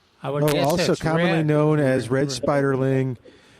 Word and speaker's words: spiderling: Spider ling. Yeah, the word spider and then they just add ling on the end of it.